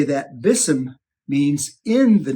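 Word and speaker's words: بسم: The Arabic is pronounced Bism. There's the B and the Ism.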